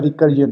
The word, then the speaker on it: recursion: इसको प्रोनाउंस किया जाता है रिकर्जन, मतलब अगर मैं यहाँ पे क्लिक करूँ तो इसको कहा जाता है रिकर्जन।